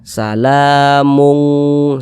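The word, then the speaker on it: سلامٌ: dari qof dan kaf, cara pengucapannya cenderung ke arah bunyi "ng". Itulah mengapa tadi kita membacanya sebagai "salamung".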